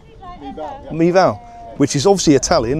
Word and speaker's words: Mival: How would you pronounce it? Mival? Mival.